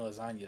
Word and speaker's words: lasagna: It was like, "No, because the G in lasagna is silent."